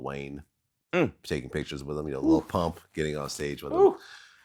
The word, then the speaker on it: Lil Pump: I could have sworn he said like Lil Pup. Did he just call him Lil Pup? Well, whatever it was, he didn't say it right. Lil Pimp. Lil Pump, by the way, didn't even vote.